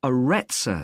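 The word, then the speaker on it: Arretsa: It's called the Aretsa Centre. That's spelled A-R-R-E-T-S-A.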